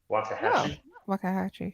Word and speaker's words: Waxahachie: I don't know if I'm gonna pronounce it correctly, but Waxahachie. Waxahachie, yeah.